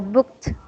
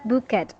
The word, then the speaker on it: booked: sound will become T so booked booked booked it's not bookid you don't have to read this as e d later on we will